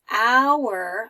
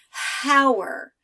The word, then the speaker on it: hour: after school notice that when I say hour I'm not making the H sound I don't say how er it's the 12 o'clock